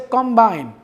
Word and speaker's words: combine: Similarly, the word is combine. If I say combine, if the stress is on the first syllable, it will be a noun. If the stress is on the second syllable, the word will be a verb.